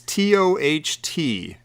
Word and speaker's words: Toht: It's Toht. Like, that's how it's spelled in the credits.